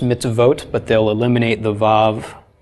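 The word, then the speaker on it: מצוות: Okay, they'll write mitzvot, it's still pronounced mitzvot, but they'll eliminate the vav from the suffix.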